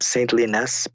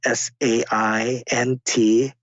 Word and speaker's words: Saintly Nest: Just look up Saintly Nest, but it's spelled SAINTLYNEST, as in Saintly Nest.